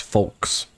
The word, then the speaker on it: Falquess: It's pronounced Folks.